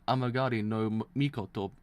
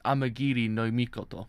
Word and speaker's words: Amagiri no Mikoto: Because someone like that vulgar false god was dubbed Amagari no Mikoto. Oh, that's it. One. It's Amagiri no Mikoto. That's how you say it.